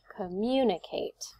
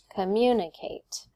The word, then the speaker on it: communicate: list how about communicate if i exaggerate i will say communicate communicate you can hear it goes up on the mu right on the second syllable communicate on here we